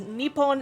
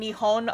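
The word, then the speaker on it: 日本: you pronounce it because nippon and nihon are like two different ways to pronounce the same spelling of the kanji um apparently nihon is the more modern way and nippon with the p is um the more patriotic way of saying it like the um the uh nationalist patriotic um apparently so modern day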